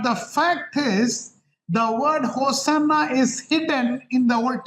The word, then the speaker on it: Hosanna: लेकिन इब्रानी में सच में कैसे उच्चारण होता है? Ho Shana.